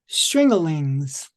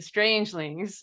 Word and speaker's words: Strangelings: Pete, tell me about the Stringalings. Oh, the Strangelings? Is that is that how you say it? Yes, the Strangelings.